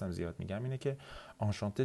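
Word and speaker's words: enchanté: آنشانته از نظر تلفظ 2 تا سیلاب نزل داره، یعنی 2 قسمتش رو شما باید از توی بینی تلفظ بکنید. آنشانته، آنشانته.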